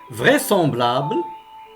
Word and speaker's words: vraisemblable: chose à voir basse vraisemblable semblables vraisemblable même si le s et les entre deux voyelles et ne se prononcent pas z vraisemblance vraisemblable elite est